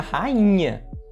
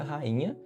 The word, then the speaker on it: rainha: Só não vai acontecer essa regra do iato se você tiver um nh logo na sílaba da frente, como por exemplo na palavra rainha. Rainha, nós temos o rainha. Veja que o i ele vai estar sozinho na sílaba, mas por ser seguido de NH há um processo chamado de nasalização que vai tirar essa tonicidade forte eh do acento gráfico que ocorreria, né?